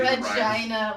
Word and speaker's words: Regina: The city Regina with fun. The city that rhymes with fun.